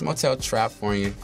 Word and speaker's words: Motel Trapfornia: Am I saying it right? Motel Trapfornia. Because you said Trapfornia. So some people do that. It's Motel Trapfornia. It's all one word.